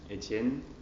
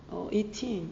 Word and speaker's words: Etienne: Yes, I'm Etienne.